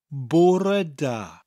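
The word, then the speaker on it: Bore da: be au r e like the english word poor oh I'm so bored that kind of poor but with an extra e an air sound when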